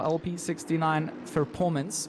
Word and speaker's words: LP69 Performance: So Nicholas Rage for LP69 Performance, which again, JC had to say this during qualifying, and I need to say it during the race. That is the team name. It is not a mispronunciation.